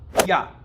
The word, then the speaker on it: Я: el yo ya que se pronuncia ya como si fuese yo qué pasa en Argentina